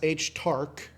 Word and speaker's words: Stark: Fern I keep saying is friend Stark I can't figure out how it's pronounced because it's they say it like Stark like sh Tark and then pretty much